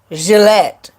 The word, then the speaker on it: Gillette: hit a hundred subscribers his last name is actually pronounced Gillette Jesse's Gillette it's not Gillan its Gillette like you know Gillette razor oh well people to